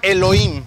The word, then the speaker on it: Elohim: primer capítulo se llama Elohim sale bueno como tal se llama Elohim Pero bueno ya saben la H la H no se pronuncia sale y el tema